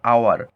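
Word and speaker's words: hour: তাহলে দেখো, এখানে বলছে অ্যান আওয়ার, তাহলে আওয়ার দেখো, ও থেকে উচ্চারণ শুরু হচ্ছে, ভাওয়েল থেকে, এইচের উচ্চারণ হচ্ছে না এখানে।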